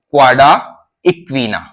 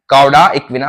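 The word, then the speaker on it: cauda equina: तो इस स्ट्रक्चर को बोला जाता है क्वाडा इक्विना। क्या बोला जाता है? कॉडा इक्विना।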